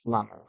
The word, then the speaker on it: plumber: Plumber. Está bien la pronunciación, pero se pone la B. Se escribe plumber, pero la pronunciación es plumber.